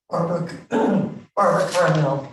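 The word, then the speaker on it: Barbara Karmel: Barbara Carmel. Pardon? Carmel is spelled with a K, but nobody does it.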